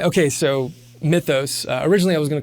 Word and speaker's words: Mythos: you should call it mythos which like we were talking about before I don't know how to properly pronounce that I think the Greek way would be like my toast right something but it was all